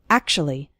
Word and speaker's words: actually: of the word actually we don't say act - well ly or something like that we say actually is actually then we